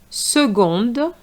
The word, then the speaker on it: seconde: which is a woman seconde So the C has a different sound here not seconde but seconde ail for ga- for